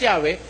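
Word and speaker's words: Yahweh: While it is almost if not quite certain that the name was originally pronounced Yahwe, this pronunciation was not indicated when the Masor added vowel signs to the consonantal Hebrew text.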